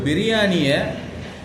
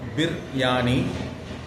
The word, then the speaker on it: பிரியாணி: ஒரு பிரியாணியை உச்சரிக்கும் போதே 4 வகையில் உச்சரிக்கலாம். பிர்யானி, பிரியாணி, பிராணி. சரிங்களா?